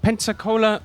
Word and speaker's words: Pensacola: and you grew up in a place called Pensacola Florida yes that I did uh you did you did pronounce it correctly hello hi um I must